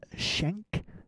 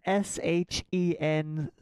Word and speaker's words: Schenck: Joseph Schenck, I believe it's pronounced. I would imagine that's how that's pronounced. Yeah, I don't know. Everyone knows I'm not so good at those, so I never like to assume. Yeah, sorry, I forgot to do the pronunciation guide. It's Shen. It's got to be Shank. Schenck, yeah. What else would it be? Sank? Yeah, maybe Schenck. Schenck.